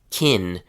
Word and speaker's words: can: In reality, people pronounce it as kin or kin.